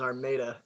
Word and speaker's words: Armada: quick one our uh the pronunciation of my town is our maida actually armenia all right